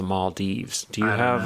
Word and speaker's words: Maldives: We were just talking about the Maldives, but Alex says it's pronounced the Maldives.